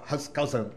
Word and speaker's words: Hans Kelsen: Um evento, eu perguntei, Tati, como é que se pronuncia o Hans Kelsen? É Hans Kelsen ou Hans Kelsen? Nenhum dos dois. Hans Kelsen.